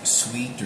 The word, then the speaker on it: suite: and the uh life's Suite suit or live sweet which is s UI T which is like sweet yeah I think that's